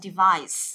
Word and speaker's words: device: Chúng ta sẽ nhấn vào cái âm thứ hai và chúng ta sẽ đọc là device. Đó, device, chúng ta sẽ nhấn vào âm thứ hai cho device.